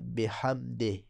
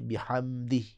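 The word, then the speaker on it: بحمده: ربی الاعلی، اعلی اعلی وبحمدہ، وبحمدہ، حمدے بھی نہیں پڑھنا، اکثر ہمارے پنجابی لہجے میں حتیٰ کہ اردو جاننے والے بھی اس کو کیا پڑھتے ہیں بحمدے، بے حمدے، یہ صحیح نہیں ہے بلکہ بحمدی، بحمدی۔ اب دونوں ذکر کو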